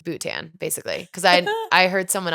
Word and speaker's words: Bhutan: Also, I literally thought it was Buttnski. Everybody does. I know, until like boot tan, basically.